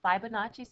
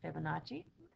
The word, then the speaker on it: Fibonacci: It's what we call the Fibonacci sequence. I think some people pronounce it Fibonacci. I hate to be say it wrong, but I've always called it Fibonacci.